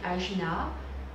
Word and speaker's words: Ajna: Son nom sanskrit est Ajna, qui signifie commande. Ajna s'écrit A-J-N-A.